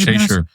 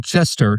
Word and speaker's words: Chessier: Or or as UIndy would call him Chester. They spelled my name wrong on one of the papers. They put Jose Chester instead of Chessier. It's like, no, you it's like the cat.